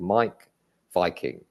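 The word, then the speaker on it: Meik Wiking: He's called Mike Viking. That's his actual name. Oh my gosh. Yeah, it's spelled with a W, and then it's Mike is MEIK.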